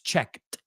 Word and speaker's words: checked: It's checked. Hay que oír esa T en pasado, right? Esa ED es una T, right?